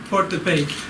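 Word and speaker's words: Port-de-Paix: They have to pull in to port, and I don't know how you say port, P-A-I-X. Somebody help me with pronunciation. Hey. Okay? Okay, Port de Paix in Haiti.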